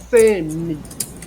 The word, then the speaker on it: semi: Semi, não é? Está aqui. A gente fala mais forte essa primeira sílaba, semi, não é?